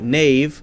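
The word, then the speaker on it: knave: spelling hasn't really changed we say k-n-a-v-e nave like nave n-a-v-e but still spell it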